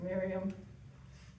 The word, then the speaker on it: Mirjam: Miriam, Mirjam. That's how you spell it, but it's pronounced Miriam.